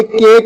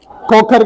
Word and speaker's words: खोखर: हाँ, ये केक नहीं है, खोखर कहें, खोखर खोखर। तो ये खा साउंड है, केक केक।